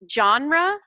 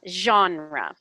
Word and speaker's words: genre: It's genre or genre. So if you're saying like someone's name John, you can say genre or zh with a kind of a Z-H.